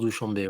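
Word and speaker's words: Douchanbé: grand schlem de Douchambé Douchambé pardon je sais pas comment ça se dit Douchambé en tout cas en français ça se prononce Douchambé voàamb et donc grâce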